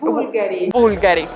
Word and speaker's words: Bulgari: let's find out what's the correct way to pronounce this one how would you call this brand in italian bulgari italian way to say this brand is bulgari